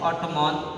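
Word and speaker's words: autumn: हो, तो यहाँ पे एन जो होता है साइलेंट हो जाता है। जैसे ऑटोमॉन, एम एन दिया है ना, यहाँ पे एन जो है आपको साइलेंट है, एन क्या है आपको साइलेंट है ना।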